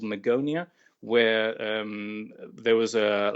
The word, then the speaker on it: Magonia: to go back to the Magonia is that how it's pronounced that's right um Magonia was a